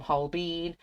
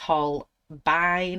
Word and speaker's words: Holbein: artist color pencils now some people call them whole bean i pronounce it as whole bine because e and i is an i so holbein in the